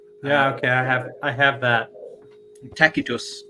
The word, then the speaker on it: Tacitus: Tacitus, technically. No. The C is hard.